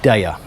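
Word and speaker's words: Deye: taiwan a company called daya i think that's how it's pronounced d-e-y-e and there will be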